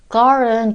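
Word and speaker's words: girl: 발음의 5 발음 하실때 걸은 쥐 irl 이라서 올라 3d 잘 못하는 r 발음과 l 발음 이 두개 다 들어 있는 단어 거든요 그래서 발음을 잘 하셔야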